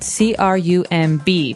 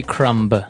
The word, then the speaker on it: crumb: And and I want to remind everyone that the word crumb has a B on the end, C-R-U-M-B, but we don't pronounce the B. We just say crumb. Yeah, you don't say crumb.